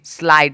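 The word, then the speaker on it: slight: भी दिखेगा एस एल आई जी एस टी स्लाइड स्लाइड मतलब होता है तनिक सा तनिक सा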